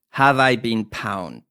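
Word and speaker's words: Have I Been Pwned: I beam pwned dot-com how do you spell that h AV e i b een pw n EG calm have I been pound so this is going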